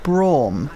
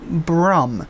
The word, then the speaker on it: Braum: did you call malawi i think it's pronounced braum not brum are you referring that